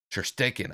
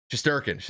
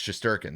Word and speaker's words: Shesterkin: I believe his name is Sherstekin, I think, if I'm getting his name right. His name is Igor. It's pronunciation. It's just Shesterkin. It's Shesterkin. That's the guy's name.